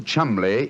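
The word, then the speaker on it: Cholmondeley: Being an American, he had no reason to know that the name Chumbllay is in no way pronounced the way it is spelled.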